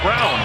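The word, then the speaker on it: Braun: Bank halftime report is coming up like it's Brawn br8 un yeah but it's pronounced Brown we've seen jokic down in that paint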